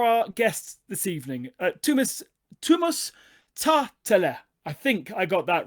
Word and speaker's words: Tähtelä: Tuomas Tähtelä. Tähtelä. Okay, so the H does actually mean something.